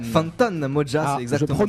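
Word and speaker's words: Fantan Mojah: Tu nous présenteras Fanta Mojan. Fantan Moja, c'est exactement ça. Je prononce ça.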